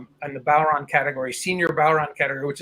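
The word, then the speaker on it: bodhrán: drum is called the bauron um you spell it b-o-d-h-r-a-n but you don't pronounce the d because the letters don't make the same sounds in irish as they do in english um so anyway it's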